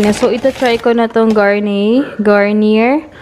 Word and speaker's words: Garnier: ita-try ko na Ong garne Garnier ano yung pagpronounce Garnier di ba Daddy garne Ay naku Garnier Garnier daw Ayan ita-try ko to